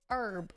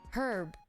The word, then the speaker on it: herb: like the work herb Americans omit the H but Brits pronounced the letter herb oh my God you're right herb herb ooh all right